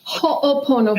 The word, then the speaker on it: Ho'oponopono: Yes, it's Ho'oponopono.